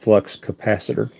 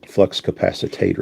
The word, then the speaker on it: flux capacitor: but you eat it's it's pronounced flux capacitor yeah not flux capacitator okay sorry okay so